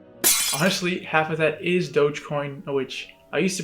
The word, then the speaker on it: Dogecoin: thirteen thousand dollars honestly half of that is dogecoin which i used to pronounce as dodgecoin but apparently that's not the way to say